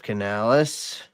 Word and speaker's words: Canales: right uh let's see here let's see Dave Canalis that's the first time you pronounced my name right the right way oh